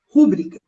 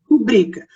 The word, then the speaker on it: rubrica: você faça uma rubrica, não é rúbrica. O som dessa palavra é rubrica. Rubrica é uma palavra paroxítona, né? Ou seja, a penúltima sílaba dela que é a sílaba forte, tá?